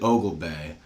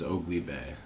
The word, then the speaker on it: Oglebay: Mike pronounces it Ogle Bay, but Charlie always told me it was Oakley Bay.